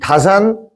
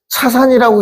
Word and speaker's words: 다산: 중요한 포지션을 차지하는 분이시죠 혹시 이걸 차산이라고 읽는 사람은 없겠죠 예 차 자도 되는 거예요 어 우리가 서날 아침에 지내는 차례 할 때요 차자를 그대로 쓰는 겁니다 예 우리 마시는 차 차 근데 이게 자로도 읽는 거죠 다산 정의 선생인데